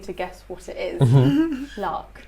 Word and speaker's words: lakh: Lark. Lark. Like a lark, but it's not spelled with an R. It's spelled L-A-K-H.